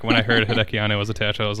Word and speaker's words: Hideki Anno: co-directed by both Hideki Anno and Shinji Higuchi.